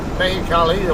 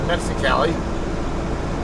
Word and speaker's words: Mexicali: the great garlic and the meali or As Americans would call it the Mexicali uh they took both those off the menu and put two other things on there and so but I'm used to calling it the right the way as a regular Mexican would uh you know